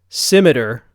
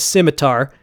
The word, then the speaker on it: scimitar: According to Google, this is pronounced scimitar. But I swear, when I was growing up, everyone said scimitar, and I watched some videos like Cult of Athena, and they say scimitar.